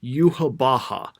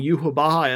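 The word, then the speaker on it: Yhwach: Like, they keep saying yuhabaha, and I'm looking at this, but this shouldn't this be pronounced like Yahawak or Yahawatch or something? Is it just too hard to pronounce? Because Yahawak like sounds like you're like, coughing up something.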